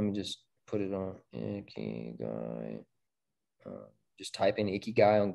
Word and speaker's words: Ikigai: It's called Ikigai. I-K-I-G-A-I. And at least that's how I've been shown to pronounce it.